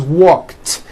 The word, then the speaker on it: walked: The word walk, which has an unvoiced K sound at the end, walk, becomes walked.